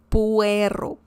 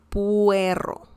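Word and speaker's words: puerro: puerto sounds like you're saying perro dog but it's not you're saying el puero puero pou ero and this means uh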